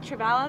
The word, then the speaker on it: Trevala: Trevala, that's how you say it.